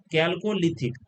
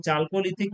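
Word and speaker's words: Chalcolithic: इसको चालकोलिथिक या कैलकोलिथिक जिस तरह से इसको आपको उच्चारण करना है प्रोनाउंसिएशन करना है उस तरह से आप इसे उच्चारण कर सकते हैं। जैसे कैलकोलिथिक या चालकोलिथिक भी बोला जाता है।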